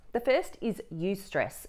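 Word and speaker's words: eustress: are two types of stress the first is use stress it's spelled e-u-s-t-r-e-s a healthy type of stress it's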